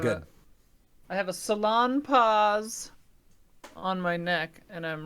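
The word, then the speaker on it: Salonpas: When I first heard that, it was on the radio, and they said salon pause, and then they had to spell it, and I was like, oh, that's not a fun spelling at all.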